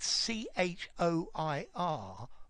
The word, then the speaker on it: choir: and Tomic so you see this word written c h o i r Mike they they pronounce it choir it cost me a bomb